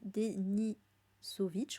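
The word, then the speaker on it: Denisovich: yeux d'un prisonnier qui s'appelle donc Yvan Denisov denisovic oui c'est ça jeavais bien prononcé euh que l'on va suivre donc au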